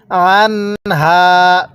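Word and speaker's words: عنها: তাহলে আনহা, আইনটা উচ্চারণের সময় গলার মধ্যে হালকা চাপ দিয়ে পড়লে আইনটা সহি শুদ্ধ উচ্চারণ হয়। তাহলে আনহা।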